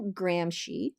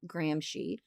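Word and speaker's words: Gramsci: Antonio Grahamshy, this is how you pronounce his name, Grahamshy, another guy with awesome hair.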